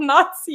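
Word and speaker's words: NACI: the national advisory are actually called nazi and that's how they say it guys okay where were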